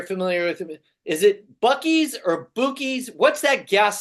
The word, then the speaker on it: Buc-ee's: I mean, and it was just, and how do you pronounce it again correctly? Buc-ee's. Buc-ee's.